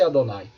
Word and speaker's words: Adonai: como adonay tá então pronuncia-se Adonai emprega-se Adonai ou hachimi verde tentar